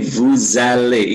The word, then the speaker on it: vous allez: Tidak vous allez, tapi vous allez. Ingat, bahasa Prancis ada liaison yang merangkaikan.